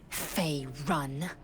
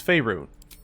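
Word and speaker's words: Faerûn: me on matters of this Fey run I thought she's making fun of him no she just doesn't know how to say their name or what they are same with uh faerun a No-No it's faerun okay thank you all right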